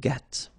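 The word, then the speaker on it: gris: same no no okay G don't pronounce the S but then for the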